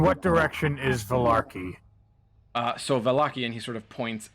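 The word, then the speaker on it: Vallaki: to the it's pronounced Valaki, and he sort of emphasizes the hard V.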